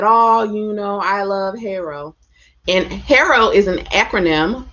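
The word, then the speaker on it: HARO: It's pronounced Harrow, Harrow, Harrow, Hero. People pronounce it differently. And I've actually checked with Cision, and they said it doesn't matter how you pronounce it. So there's no official way. So sometimes I say Harrow, sometimes I say Harrow.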